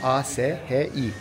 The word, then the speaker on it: Ashi: A-S-H-I. Ashi diye okunuyor.